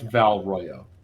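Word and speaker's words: Val Royeaux: It's pronounced Val Royo.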